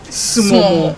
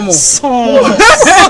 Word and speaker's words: Somo: Sumo. Sumo. No, don't say small. Somo. Sumo. Somo. The stress is on the som.